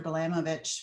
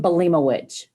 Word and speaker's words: Balimowicz: It's John Balimowicz. Balimowicz. Okay, got it.